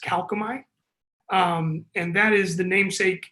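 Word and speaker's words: Kalkomey: So I've heard our company's name be pronounced all kinds of different ways, but our company's name is pronounced Calcomite.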